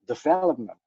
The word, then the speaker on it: development: So celebrity, yeah, development. But in English, you have to do it on the second syllable, so development and celebrity.